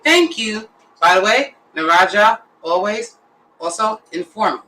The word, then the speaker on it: na razie: It's na razie.